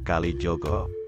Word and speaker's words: Kalijaga: cerita Islami penyentuh qalbu sebenarnya dalam bahasa Jawa pengucapan Kalijaga adalah Kalijogo Kalijogo atau Jogo kali